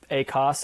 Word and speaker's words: ACoS: i say i'm gonna i decided i'm gonna accent i'm gonna change the accent on the syllable so a a cos acts on the first syllable is is a add cost of sales a cots if i emphasize that t in there on the second syllable um but yeah with